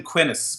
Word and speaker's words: Quinnis: Yeah, we called him Quinnis, which rhymes with Guinness.